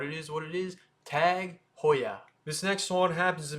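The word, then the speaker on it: TAG Heuer: the new sponsor of F1 goodbye Rolex it's tag Hoya not tag Hoyer it's Hoya Hoya tag Hoya and I know that sounds a little weird but it is what it is tag Hoya this next one happens to be one of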